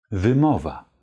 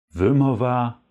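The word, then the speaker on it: wymowa: zwar mit diesem Wort die Aussprache lautet auf polnisch wimmova Wimmer war Wimmer war also nicht wie MOVA Würmer war sondern wimmova wimmover wimmover mit einem schönen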